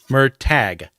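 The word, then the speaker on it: Murtagh: yeah check it out was it m tag or mer toog I never could remember how to pronounce it correctly well uh he's oh hand pronunciation guide puts a pronunciation guide in the back of the book so let me make sure I'm reading it right um this is gonna go on for too long yeah it's okay mer tag okay yeah my pronunciations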